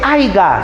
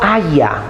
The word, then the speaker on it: haya: de sinónimos corrección chicos no se dice haiga sino haya m entonces ahí corrección